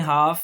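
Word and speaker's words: half: फिर अगर एल के साथ एफ आ जाए तो एल साइलेंट है। देखें हाफ, ये भी मैंने पीछे भी एफ में कर दिया था, काफ।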